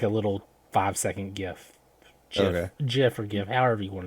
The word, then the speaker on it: GIF: a little five second gif jeff forgive however you want to say it the i don't care what anybody says the correct correct pronunciation is gif right um so i